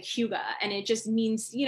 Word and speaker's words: hygge: Like cryo and like go into saunas and like even in Denmark they have the whole saying, it's pronounced like hygge, and it just means, you know, to just